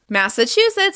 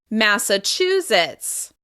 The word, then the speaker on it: Massachusetts: Massachusetts is home to Boston, one of my favorite cities. We're going to stress the third syllable. Massachusetts.